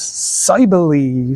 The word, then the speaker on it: Cybele: Cybele, or some may pronounce as Cybele.